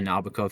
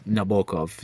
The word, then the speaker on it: Nabokov: Um I used to say Nabokov for ages but um apparently it's Nabulov. You got to put the stress on the bow.